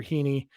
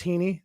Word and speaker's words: Heaney: dodgers are going after hiney and by the way i looked up it is heaney so uh i i